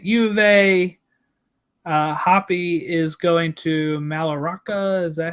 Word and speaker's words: Mallorca: Hoppy is going to Mallorca. Is that how you say it? Mallorca? Yeah, Mallorca. Maybe Mallorca. Mallorca, sorry. Mallorca, because they Mallorca. Don't pronounce the You're L's, right? It's not the L.